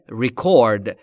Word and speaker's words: record: و یک تلفظ دیگه داره. Record یعنی مستند یا چیزی که به صورت مستند وجود داشته باشه. پس تلفظ درستش در معنی ثبت و ضبط کردن میشه record.